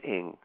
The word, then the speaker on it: Ng: That's Don Lasseter, the true story of Leonard Lake and Charles Ng, which is spelled N-G.